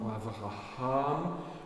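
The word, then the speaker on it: אברהם: dans le nom d'Abraham Avraham là vous avez un H que vous devez prononcer puisqu'il est avant la fin Abraham et Abraham a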